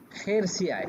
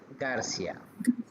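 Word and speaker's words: García: যেমন খেরসিয়া, এটা উচ্চারণ হওয়ার ছিল খেরসিয়া, কিন্তু এটা উচ্চারণ হবে গার্সিয়া।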